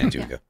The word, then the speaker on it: Antigua: Yeah, Antigua.